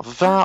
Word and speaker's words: vin: Vin, on va être un peu plus comme ça. Vin, vin. Et vent, on va dire un peu plus comme ça. Vent, vent.